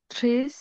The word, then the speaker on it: très: Il est très difficile. très difficile। Sorry, আরেকবার একটু বলবেন? très difficile। Très difficile. Très এস difficile.